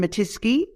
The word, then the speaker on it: Matisky: for us well it's matisky and the easiest way to remember it is that it rhymes with whiskey whiskey matitsky I love